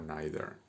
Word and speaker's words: neither: En vez de so, que sería la partícula positiva, pones neither o neither. Aceptamos esas dos pronunciaciones.